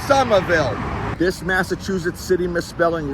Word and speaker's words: Somerville: h v i w l e it is pronounced sumerville this Massachusetts city misspelling right here is one